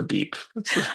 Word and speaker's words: BIP: platform, the BIP, or was saying BIP or beep? I love The beep sounds more funny. The beep is so fun. If you pronounce it with a Spanish accent, then it's beep.